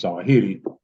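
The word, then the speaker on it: Zawahiri: And so the edict to have Junior murdered by Zuahi, which many people pronounce Zahiti, whatever, uh caused Junior to turn himself in and seek protection of the USA.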